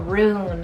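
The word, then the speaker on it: rune: who is a resting then we have a roon it's called r-u-n-e roon and this one's kind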